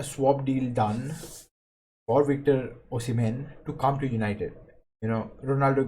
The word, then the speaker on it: Osimhen: Osimhen, right? Not Menhe. So Osimhen, Victor Osimhen.